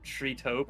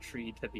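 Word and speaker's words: TreeToBe: I also was going to pronounce that name Tree Taupe and not Tree to be.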